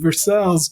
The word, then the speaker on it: Versailles: the street from her main showroom in downtown Versailles Kentucky and spelled like Versailles France but it's pronounced the Kentucky wave Versailles my brother Patrick and I Patrick still works